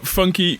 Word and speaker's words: FUNKe: websites he goes by funky on like most other things people who don't know how to pronounce it call it funk which is like at